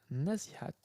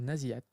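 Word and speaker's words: النازعات: Hop, sourate 79, un nazihat, ou naziat, à mon avis. Il n'y a pas de H, donc on ne prononce pas un H, s'il n'y a pas, ça n'aurait aucun sens.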